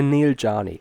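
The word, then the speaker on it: Neel Jani: this in the off-season, but Neil Yanni? Or Yanni. I think. Not too bad, yeah. Yeah. The Swiss say Neil Jani.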